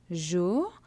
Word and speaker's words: jours: ஜூ அந்த எஸ்ஸை pronounce பண்ணக்கூடா சைலண்ட்டாக இருக்கும்.